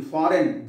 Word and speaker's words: foreign: double F, silent letters, in foreign, G is silent, what, H silent, psalm,